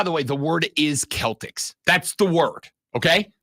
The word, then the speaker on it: Celtic: and that's fine but the word is Celtic for sure that's the word when when you when you talk about Celtic culture Celtic history you don't say Celtic the fun thing is